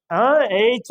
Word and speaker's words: H: போட்டு உங்கள்ட்ட கேக்குறேன் இல்லையா ஏச்னு தான் உச்சரிக்கணும் தனிப்பட்டு இந்த லெட்டர ஆனா நம்ம என்ன சொல்றோம் ஹச் சரிங்களா ஆமா ஸ்கிரிப்ட் பாருங்க ஹச்